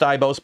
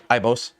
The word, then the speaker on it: IBOS: It's pronounced IBOS, by the way, not Eboss, IBOS.